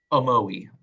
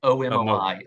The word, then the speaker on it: Omoi: First, pronounce this for people who didn't hear the podcast. Omoi. O-M-O-I.